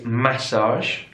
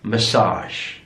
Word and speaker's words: massage: here in British English it's massage massage stress on the first syllable in American English massage massage so stressed on the last syllable massage massage massage here's